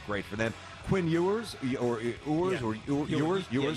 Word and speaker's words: Ewers: Quinn Ewers, Ewers.